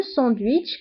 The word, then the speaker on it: sandwich: فبالفرنسية le sandwich كنطقو لا لتر تي مع انها ما مكتوباش كنقولو le sandwich.